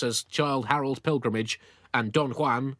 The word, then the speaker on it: Don Juan: Childe Harold's Pilgrimage and Don Juan, or as you Brits hopelessly pronounce it, Don Juan!